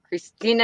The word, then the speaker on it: Christienah: Christina.